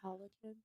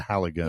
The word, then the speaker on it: Halligan: Is it not pronounced halogen? Halogen? Like a bulb? It's a Halligan.